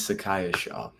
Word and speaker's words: Sacaiah Shaw: before I say it wrong my name is Sakaya sha Sakaya oh his name just it sounds I've